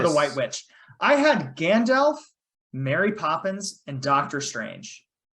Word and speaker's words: Gandalf: this right uh I'm really not what you're pronounced I uh Gandalf it's Gandalf Gandalf I'm imagining Elijah Wood saying it in